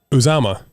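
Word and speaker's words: Uzomah: How do you pronounce it? Uzama.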